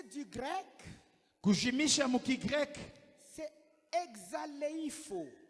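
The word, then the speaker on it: ἐξαλείφω: le terme effacé du grec, Kujimisha mukigrek c'est exaleifo, exaleifo, ndio vile mina ce prononcea.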